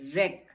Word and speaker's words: wreck: अब रेक नहीं है, ये रेक है, रेक, क्योंकि R से पहले W है इसलिए ये भी साइलेंट है, तो इसको भी हम रेक नहीं पढ़ेंगे, रेक पढ़ेंगे।